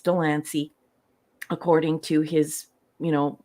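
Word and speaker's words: de Lancie: in this episode and I know that he pronounces his name Delany but obviously that's not the way Delany is that's shouldn't be the way it's pronounced it's like very likely Danier but whatever it's Delany according to his you know that's what he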